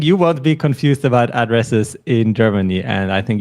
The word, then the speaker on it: Adresse: pay attention to is the intonation of the word address so in English it's like address of in German it is AD ad yes we kind of uh focus on the second syllable address address yes perfect all